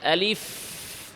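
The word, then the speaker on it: ألف: আসুন প্রথম থেকে আলিফ আলিফ শেষে কি আছে? ফা সাকিন ফাতেহামস এবং রখাওয়া আওয়াজ এবং বাতাস জারি।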